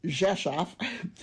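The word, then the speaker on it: Rzeszów: Jesaf, it's pronounced Jesaf, is a city of about 200,000 people located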